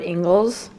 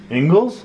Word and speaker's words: Ingles: that we got at ingles i feel like i'm saying it wrong angles no that's the right way to say it you can't open it